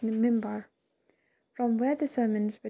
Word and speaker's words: minbar: Two special features were located inside the hall: a niche, mihrab, in the wall indicating a direction of Mecca, and a pulpit, minbar, pronounced mimbar, from where the sermons were delivered during noon prayers on Friday.